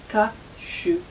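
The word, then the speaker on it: 火酒: On le prononce ka shu.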